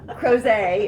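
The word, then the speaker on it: Crozet: with a u doesn't matter cross a is c-r-o-z-e-t which is just right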